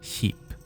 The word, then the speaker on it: skip: Ship, as in a large boat, is spelled ship, whereas in Norwegian it's spelled skip and pronounced sheep.